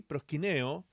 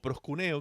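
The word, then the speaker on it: προσκυνέω: principalmente del término griego prosch Neo sí prosino o prosc kune que también se puede pronunciar de esa manera y este término se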